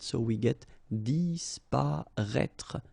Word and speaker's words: disparaître: So remember that we've got this accent circonflexe on the top of I, but then phonetically we don't pronounce it, so we get disparaître, disparaître.